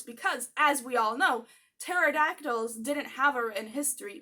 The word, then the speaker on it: pterodactyl: Yes, the "P" is silent.